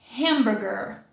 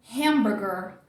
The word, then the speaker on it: hamburger: Então, força aqui para não deslizar na pronúncia do português. Deu para pegar? Hamburger. Hamburger. Hamburger.